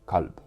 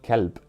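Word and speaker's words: قلب: For example, the Arabic word for heart is qalb, but if you say kalb, you say dog, which of course is something completely different.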